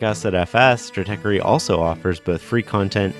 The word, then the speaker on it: Stratechery: Strateery is Is that even how you say it? Is it stratey? It is. It is. Strate strategy and tech.